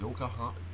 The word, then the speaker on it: Yokohama: Yokohama.